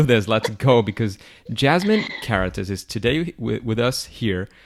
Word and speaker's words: Karatas: So it would be pronounced Karatas in German, but in English it's very good pronounced.